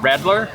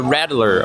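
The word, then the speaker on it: Radler: Also, your rattler, or is that what it's called? Yeah. Rattler, isn't that a snake? Like a rattler? Like a rattlesnake? Yes, this is but it's spelled differently. R-A-D-L-E-R.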